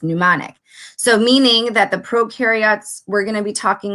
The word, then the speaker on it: prokaryotes: mnemonic device is mentioned pro in prokaryotes rhyme with no and you and eukaryotes